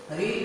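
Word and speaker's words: read: रीड का third form, रेड रेड pronounce करेंगे, spelling same, रीड रेड रेड mind में रहे, अगर आप रीड बोलेंगे इस मीन्स है आप गलत बोल रहे हैं, ध्यान रहे प्रोनाउंसिएशन है रेड रेड वाजी ऑब्जेक्ट रेड बाय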